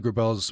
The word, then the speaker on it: Grabelle: My work is about empathy and a fine art and editorial photographer, Gerbell, is based in Big Fork, Montana, and joins us by Zoom uh today." Gerbell, thank you so much.